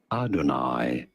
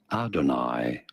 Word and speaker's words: Adonai: There are two different ways of saying it, either Adonai, with an emphasis on the first syllable, Adonai, or Adonai.